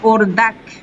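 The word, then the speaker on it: اردک: প্রথম যে শব্দটা সেটা হচ্ছে ওরদাক। ওরদাক, ওরদাক। হ্যাঁ, কাফটা আমি তোমাদেরকে বলেছি অনেক শব্দের ক্ষেত্রে ইরানিরা যেটা করে, কাফ এন্ড হে একটু এটার মাঝামাঝি উচ্চারণটা, যেমন ওরদাক, ওরদাক, ঠিক আছে, বোঝা যাচ্ছে?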